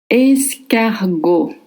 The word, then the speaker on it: escargot: You don't pronounce the T at the end. Escargot. A C in front of A makes the sound K.